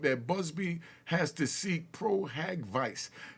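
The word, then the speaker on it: pro hac vice: Busby has to seek pro-hack vice. Now, pro-hack vice, that's how it's pronounced. Pro-hack vice. Pro-hack-VIC. But we, in the court system, we just call it pro-havoc.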